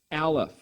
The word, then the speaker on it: Aleph: The letter Aleph in Hebrew is silent.